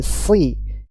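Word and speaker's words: ص: suaranya tajam baik hati-hati Shad ini bukan syin bukan ihdini bukan syi tapi si si ihdin ihdinatal mustaqim tib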